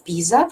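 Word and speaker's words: PISA: результатами международных исследованиях форматов пиза латинскими буквам пи-эй-эс и а вот так пишется произносится пиза посмотрите пожалуйста эти результаты во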